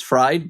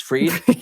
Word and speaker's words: Fried: And Sierra, a lot of people spell my name for some reason and they pronounce my last name as fried but it's freed.